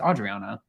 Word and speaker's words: Adriana: And we see in this episode where Julia is sitting down with Adriana. I always call her Adriana. It's Adriana.